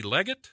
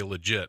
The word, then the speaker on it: Leggett: you since you're talking already Barry and Kathy Leggett yes hey I pronounced it right did I okay good good good I thought so I was gonna say legit but you know that didn't seem right you